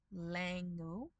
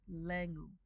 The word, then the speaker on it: langu: Because if that a sound, the a with the umlaut, is in an unstressed syllable, in Reef, we can, optionally, turn it into the e sound from the e. So sataronti becomes setaronti. And langu becomes lengu.